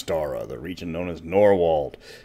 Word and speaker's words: Norwold: the region known as nor wold not nor world as many people pronounce it for a lot of